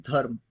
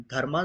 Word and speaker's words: धर्म: जो भी आपके अंदर प्रेम आता है, जो भी धर्म आप सीखते हैं, धर्मा जरूर लिखा है लेकिन प्रोनाउंस से धर्म करते हैं हिंदी में।